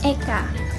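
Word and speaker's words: एक: Oke, tadi kan kalau dalam bahasa Sanskerta 1 itu disebut Eka. Nah kalau dalam bahasa Hindi 1 Eka itu disebut Ek. Jadi nggak ada A-nya, A-nya hilang, cuman Ek gitu dong.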